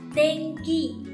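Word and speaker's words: 天気: nghĩa là thời tiết, âm mũi in đứng giữa và phía sau là ki. Ki thuộc hàng phụ âm K nên mình sẽ biến in thành ng và đọc là Tenki.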